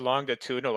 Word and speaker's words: longitudinal: use of the word longitudinal it doesn't involve like like ships sailing the Seas or geography long longitudinal longitudinal it's a j sound as he phonetically pronounces it all right let's let's